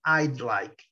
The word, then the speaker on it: I'd like: Nesse caso aqui, não é I would like, é I'd like. O D quase não é pronunciado.